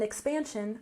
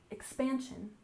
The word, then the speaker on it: expansion: syllable in westward westward and expansion we stress the second syllable expansion expansion this was a time